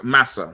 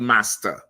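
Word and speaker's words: Marse: It's saying it's like saying massa, not master.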